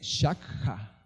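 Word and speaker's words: שחה: traducida más al español, se pronuncia sacha, S-A-C-H-A. Es en hebreo, pero la palabra, por así decirlo, correcta, se dice shakha, que es S-H-A-K-J-A.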